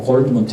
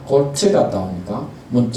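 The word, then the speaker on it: Goldmund: 우리 작품에도 나르치스 오늘 골드문트에서 뭐 골드문트 해줬고 골드문트 해줬고 좋습니다. 저는 뭐 발음상 항상 골트 갔다 오니까 문트 이렇게 했는데 뭐 골드문트 이렇게 해도 상관이 없습니다.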